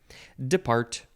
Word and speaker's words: depart: let's get to it depart or depart emphasize the second syllable verb from the 13th